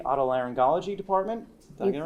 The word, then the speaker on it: otolaryngology: She is an audiologist from Jefferson Hospital in the, and I'm going to try and pronounce this correctly, otolaryngology department.